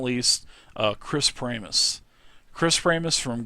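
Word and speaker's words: Pramas: Because I guess a lot of people think his name is Promise or something like that, but it is Pramus.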